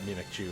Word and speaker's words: Mimikyu: But secondly, like, yeah, I didn't know that Mimikyu is the proper pronunciation.